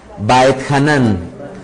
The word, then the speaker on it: Vaetjanan: semanal que se llama backhanan pronuncian por favor by hanan que significa del hebreo